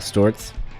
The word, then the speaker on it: Sztorc: So I'm here with Paul Stewarts. Just learn the correct pronunciation.